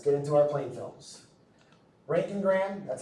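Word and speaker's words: roentgenogram: Rank and Graham. That's how that it's pronounced rank and Graham.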